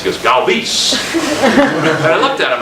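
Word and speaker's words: Galvís: Freddie, "How do you want your name pronounced?" He goes, "Galvis."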